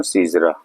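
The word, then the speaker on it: caesura: सीजरा, इसका प्रोनाउंसिएशन है सीजरा।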